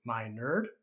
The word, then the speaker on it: Minerd: my name is dr minerd pronounced my nerd for a reason and i am honored